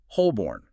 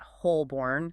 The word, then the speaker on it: Holborn: If you try to pronounce the L distinctly, you get Holborn. But the correct pronunciation? Is Holborn. You often barely pronounce that middle L or it just becomes completely silent.